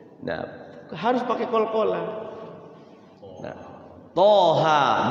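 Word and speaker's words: طه: harus pakai qalqala th Thaha dua-duanya dua harakat nah Thaha itu dia Misa ya th ha kalau ini benar nih Thaha di Disebut apa namanya tanda bacanya Ya tho tapi memang tho m ya dia fathahnya pakai o juga th ha dua harakat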